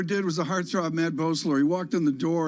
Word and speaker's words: Boesler: I think Boesler is the way he pronounces it.